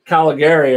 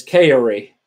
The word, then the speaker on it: Cagliari: And that is for, I always say that name wrong. It is for, yeah, that is for Cagliari. I always want to say Caligari or something, but it's Cagliari.